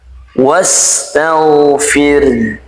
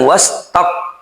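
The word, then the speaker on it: واستغفر: Dan juga ini memiliki sifat rakhawah yang mengalir ketika diucapkan wastag bukan wastaq ya. Hati-hati ya teman-teman ya, bukan wastag. Pastikan laid ini mengalir wastagfir.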